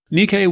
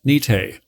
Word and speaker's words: Nikke: the area around nikkei nikkei was actually a western mispronunciation of the local thai name for the area nite the allied pows called